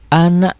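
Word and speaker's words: أنا: wnya yang banyak muslimau W Ana Ananya pendek Karena berarti saya Minal Minal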